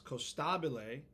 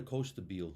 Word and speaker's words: Costabile: getting really stubborn about it's costabile cost growing up no one said it that way but now that I'm on stage and I want strangers to say it I'm making them say it Italian costaba yeah make my last